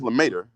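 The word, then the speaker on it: Lemaître: George Lemaitre. Lemaitre, I'm pronouncing it right.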